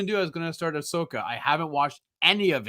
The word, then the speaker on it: Ahsoka: pronounces it differently but I'm pretty sure it's Ahsoka it's Ahsoka yeah a lot of people say Ashoka yeah and it sounds